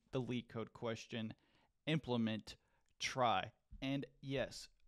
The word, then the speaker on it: trie: lead code question Implement try and yes this word that you see right here is actually pronounced try most people don't care